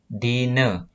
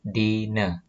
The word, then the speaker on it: dina: Selanjutnya, huruf A di belakang sebuah kata dibacanya E. Nah, sebagai contoh di sini ada kata dine. Nah, tulisannya dina. Nah, A-nya di belakang ini dibacanya E. Jadi dine.